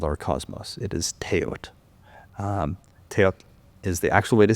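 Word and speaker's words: teotl: For non-Nahuatl speakers, just every time you see a TL ending, forget the L. Just pronounce the T and you'll be good.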